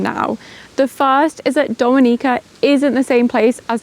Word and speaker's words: Dominica: The first is that Dominica isn't the same place as the Dominican Republic. They're not even pronounced the same because Dominica, as you can tell, is pronounced more with an E sound.